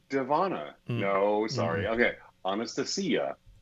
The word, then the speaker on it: Anastasia: the guest today uh our guest today is anastasia devonna no sorry okay honest to see ya honest to see you that's how you pronounce her name i did